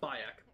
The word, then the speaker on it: Bayek: It's Bayek. Bayek. It's with a B. B-A-Y-E-K, I think is how you spell it.